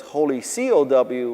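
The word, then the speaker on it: Holy Kaw: cow is k-a-w and the reason why it's k-a-w is because holy c-o-w was taken but my name is kawasaki and so i thought that's funny i'll make it holy k-a-w and it'll be pronounced holy cow but lots of people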